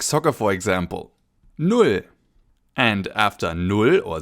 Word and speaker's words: null: our first number, 0, or in German, null. Null. Almost like the English nil that you know from sports like soccer for example. Null.